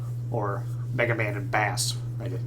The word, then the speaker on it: Bass: I think it's actually supposed to be pronounced bass because his dog is named Treble. Oh yeah, it's all music stuff, but I refuse to acknowledge that.